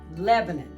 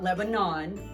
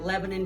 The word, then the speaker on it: Lebanon: Lebanon, that's how we pronounce it, not Lebanon, like the Middle East. So, we pronounce it Lebanon, Tennessee.